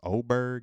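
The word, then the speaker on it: Åberg: I want to say his last name is pronounced Oberg. It's spelled Aberg.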